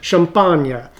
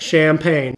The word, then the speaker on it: Champagne: And frankly, we should stop calling it by that name anyway because it's pronounced closer along the lines of champagna. Champa. It's not champagne.